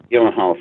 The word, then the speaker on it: Gyllenhaal: so a movie called October sky Jake ever pronounce his last name like gallon hi Jill Oh Gyllenhaal thank you so much he did a really